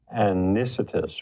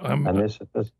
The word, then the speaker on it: Anicetus: being in Rome under how you pronounce it, Anicetus, right? Anicetus. And I'm sure if that's the way I pronounce it, it's probably wrong. I remember always hearing Anicetus, okay. But it's, you know. Right. But actually, technically, I would guess if we're following good Latin rules, your pronunciation is better.